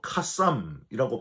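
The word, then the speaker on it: קוסם: 여기서 이 점술가는 히브리어로 카쌈이라고 발음을 하는데 점쟁이를 뜻하는 말이에요.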